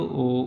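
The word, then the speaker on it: ho: यहाँ आपके ज़हन में एक बात आएगी कि ओ के साथ एच क्यों लगाया हुआ है। एच यहाँ साइलेंट है, यहाँ हम एच को नहीं पढ़ेंगे, खाली ओ को पढ़ेंगे।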